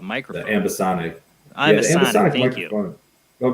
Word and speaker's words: ambisonic: And I'm interested in the ambionic, or you say it right, microphone. The ambisonic.